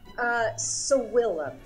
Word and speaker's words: savillum: So I'm going to be trying to make one of Cato's recipes, but I can't pronounce it. It's salamana? Sawillum. Sawillum?